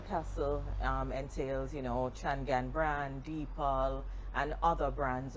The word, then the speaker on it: Changan: right Janelle so give us the history of changan am I even pronouncing it properly yes you are so it's changan and of course um everything's started of course